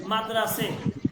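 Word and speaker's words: مدرسه: যেমন দেখেন মাদ্রাসে, এখানে কিন্তু আমি হেটে উচ্চারণ করতেছি না, খনে উচ্চারণ হচ্ছে না কিন্তু লেখার মধ্যে আসতেছে।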